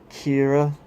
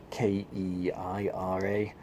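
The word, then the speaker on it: Qi'ra: two the female protagonist what's her name Kiera it's about Hugh I ' are a Kiera but okay now it's Kei are a good old Keir Hardie the male version Kia Kiera the female version they've just swapped letters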